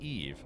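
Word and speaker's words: Yves: Oh, uh, Eve is a French man's, uh, name where I come from, pronounced Eve.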